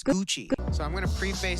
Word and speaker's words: Gucci: how to pronounce Gucci the two C's make it a CH guys Gucci it's Gucci so I'm going to